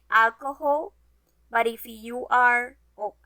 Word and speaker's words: alcohol: best guess guess what what consonant is always silenced in spanish here is a hint